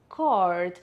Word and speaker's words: card: Si vous le prononcez en anglais américain, ça va être card. Donc ça veut dire que le mot va être plus allongé comme vous pouvez l'entendre. Card et le R est vraiment roulé.